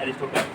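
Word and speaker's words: Aristotle: अरस्तु, या जिसे जिन्हें हम इंग्लिश में उनका उच्चारण होता है एरिस्टोटल, फादर ऑफ जूलॉजी इन्हें भी अरस्तु बोलेंगे।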